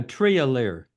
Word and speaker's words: Trier: what is it uh Trier okay I'll try I'll try that next